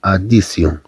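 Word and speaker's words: addition: إذا في هذه الحالات كما تلاحظوا تنحصلوا على صوت اس من خلال طي، ولكن عندما تكون متبوعة بإي أو إن في آخر الكلمة.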